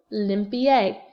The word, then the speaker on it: limpié: So no, lo, limpié. L-I-M-P-I-E, accent on the E.